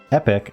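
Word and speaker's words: epoch: So when I heard someone pronounce it epic, I went, is that how you pronounce it?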